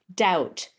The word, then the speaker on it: doubt: his question was with the word doubt d-o-u-b-t why is the b silent and my answer was